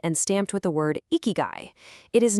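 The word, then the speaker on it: 生き甲斐: First off, it's pronounced ikigai, and the true definition is astonishingly simple.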